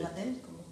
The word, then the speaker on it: Bataille: Yo conozco parte de su obra sobre Georges Bataille, o sí, Bataille, como se pronuncia.